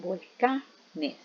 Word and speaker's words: volcanes: Pero cuando formamos el plural, siempre la fuerza de voz la conserva en la misma sílaba. Decimos volcanes. Ahora, ¿qué sucede?